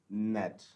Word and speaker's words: gnat: था, इसमें जो है GNAT में G is silent, so this is pronounced as नेट, इसको हम बोलते हैं नेट।